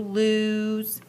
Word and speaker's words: lose: So we have to, because it sounds like a U, lose. So we have to be aware of those different vowel sounds in these words when you're spelling this. It has this sound, but it's spelled with the O.